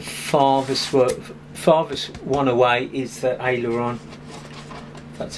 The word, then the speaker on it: aileron: The farthest one away is the aileron. That's how you pronounce it.